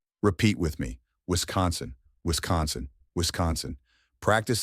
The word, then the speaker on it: Wisconsin: Some people mistakenly pronounce it as Wisconsin or Wisconsin, but those are incorrect. Let's break it down. Wis, like whisk, then con, as in conversation, and finally sin, like the word sin. Repeat with me. Wisconsin, Wisconsin, Wisconsin.